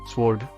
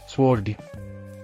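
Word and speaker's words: sword: ಉದಾಹರಣೆಗೆ ಸ್ವೋರ್ಡ್, ಖಡ್ಗ ಅಥವಾ ತಲವಾರು. Silent letter W. ಸ್ವೋರ್ಡ್.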